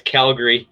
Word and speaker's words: Calgary: It's not Ari. It's Calgary. Calgary. Calgry. Calgary. Yeah. It sounds like a person's name, like Calgary.